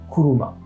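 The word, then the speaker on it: 車: à m'en rappeler d'ailleurs la voiture qui en prononciation purement japonaise se dit coulouma j'ai le valide je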